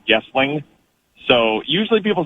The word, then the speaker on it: Goessling: just as an FYI, my last name is pronounced, and I put it Goessling like with a U instead of an O so that it looks phonetically like Goessling. So usually people say Goessling.